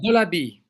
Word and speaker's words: Delabie: Yeah, Delabie, Okay. Let me do the Delabie. intro too. And today it's a very awesome show. We got here. We got Mr. Delabie here.